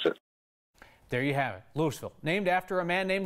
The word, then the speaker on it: Louisville: in Louisville pronounce it Louisville because I always say we are named after a guy named Lewis Lewis nawat nee was